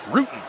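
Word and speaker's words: Rutan: Pronounced Ruden.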